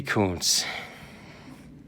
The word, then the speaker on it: Kuntz: one of the best baseball names ever rusty Kuntz that's how it's pronounced boys and girls rusty Kuntz that is